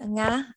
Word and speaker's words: Nga: You pronounced my name correctly, don't worry. Good day, everyone. My name is Nga.